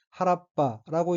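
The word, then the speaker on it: 原っぱ: 어휘는 한자가 한국어로 소과이고 각기 필소 자랑할과자이고 일본어는 허루라고 읽으며 사키코루는 화려하게 피다, 한창피다라는 뜻의 자동사입니다. 다음 오인은 한자가 언덕권자이고 일본어로는 하라빠라고 읽으며 하라빠는 잡초등이난 빈터, 들, 벌판 이런 뜻입니다.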